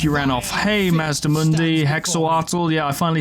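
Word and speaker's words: Hexoatl: Hey, Mazdamundi, Hexawattl.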